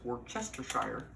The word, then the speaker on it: Worcestershire: And it's actually, if if you pronounce it phonetically, it's Worcestershire, but I don't think I think they almost